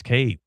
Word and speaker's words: Cade: How many syllables is his first name? Wow, you're on to something here. Okay, it's Kade. It's one syllable.